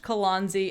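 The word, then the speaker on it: Kelonzi: can find me at k-e-l-o-n-z-i it's pronounced kalanzi and it was indeed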